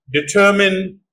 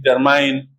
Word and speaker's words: determine: consonant but are like determine examine these two words are also mispronounced like examine in determine but they are determin in examine another example intestine margarine